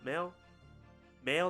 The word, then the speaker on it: Mael: to my profession hmm I don't know how to pronounce that mile mail like mail server see I was thinking